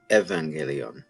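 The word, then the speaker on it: εὐαγγέλιον: my raspbian pronunciation but in modern greek they do take those upsilons that are basically like a u in our alphabet and pronounce it like a v like i would say a you on galeon they would say ev evangelion right which is where we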